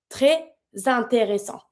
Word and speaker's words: très intéressant: I do not pronounce my S on my own because it's a S. This is not a R, so it's supposed to be mute. Très intéressant.